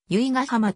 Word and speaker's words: 由比ヶ浜: ではないなお多くのメディアでは由比ヶ浜と真ん中に高額戦闘多くが地元の人は由比ヶ浜と頭高がたアクセントで発音する 2013 年には